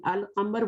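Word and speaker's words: القمر: In Al-Qamar, we are reading Alif, Lam, and here Ash-Shams, we are skipping the Lam.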